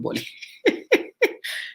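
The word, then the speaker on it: boli: for our international audience ballet is called bali b-o-l-i you can pronounce it in your boys called bully you know and i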